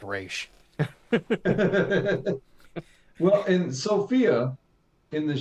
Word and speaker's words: Ra's: Talia corrects Bruce and says, well, technically his name is pronounced Ra's.